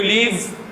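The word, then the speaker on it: live: For example, मैं अगर यहाँ पे पूछूँ where do यू लीव, where do यू लीव, हम इसको इस तरह पढ़ देते हैं, वेयर डू यू लीव। हम पढ़ना ही चाहिए लिव को फौरन ही, प्रोनाउंसिएशन में क्या है, वी को फौरन छोड़ देना चाहिए, लिव। ठीक है जी, हम बोल देते हैं वेयर डू यू लीव, मतलब आप कहाँ छोड़ते हो।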